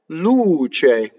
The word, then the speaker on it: luce: So C-E is ce. Luce. What can you do wrong in this word? You can double the ch sound.